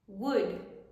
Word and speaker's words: would: se pronuncian casi igual no vamos a pronunciar ar la l would could should y el último verbo